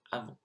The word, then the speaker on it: avons: And of course, I said avons when actually you don't pronounce the S, it's just avons.